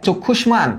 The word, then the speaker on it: চক্ষুষ্মান: প্রথমটার উচ্চারণ চক্ষু, তাহলে লেখ চোখ, চোখ, ফার্স্টে লিখছি চোখ। এই যে দেখ খুশ, চক্ষুষ, হ্যাঁ, কারণ মূর্ধন্যস্বয়ের উচ্চারিত রূপ তালব্য স, আর মত থেকে যায় চক্ষুষ, তারপর দেখ মান, চক্ষুষ্মান।